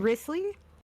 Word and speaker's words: Wriothesley: Risley's.